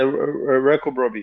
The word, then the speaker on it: Wireko-Brobby: that's a Wireko-Brobby.